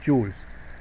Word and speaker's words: joule: Aquí está, joules. Se representa por la letra J y se pronuncia, escribe joule, se pronuncia joule, ¿no?